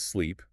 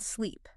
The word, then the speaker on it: sleep: Take slip and sleep and sick and seek. The difference here is entirely about mouth tension and the duration of the vowel.